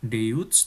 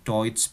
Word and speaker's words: Deutsch: Ya, Deutsch itu bahasa Jerman, bukan Deutsch tetapi Deutsch bacanya.